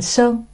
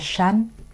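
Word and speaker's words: 山: Người Việt đọc thành Sơn, người Tàu Bắc Kinh thì đọc khác, họ đọc là San.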